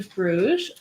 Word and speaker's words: Brugge: I they love Canadians I hope I'm pronouncing that correctly yeah Bru is correct yes you nailed it um yeah so we're